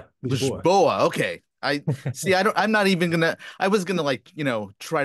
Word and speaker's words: Lisboa: I'm talking to Tiago Faria, who is joining me from Lisbon, Portugal, or is it Lisbao? Lisboa.